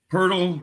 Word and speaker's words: Poeltl: I was so focused on getting the Poeltl part right that I screwed up the Jakob part. That is terrible. Poeltl rhymes with Wordle.